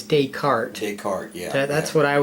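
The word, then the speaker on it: Descartes: said that um but the pronunciation is day cart dayart yeah that's what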